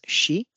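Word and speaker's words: 止: So the On'yomi reading is shi. The Kun'yomi readings are tomaru, tomeru, yamu, and yosu.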